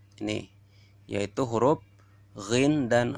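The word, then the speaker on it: غ: Kemudian yang keempat, keluar dari ujung kerongkongan, lebih dekat dengan mulut. Mana nomor 4? Ini, yaitu huruf ghin dan kha.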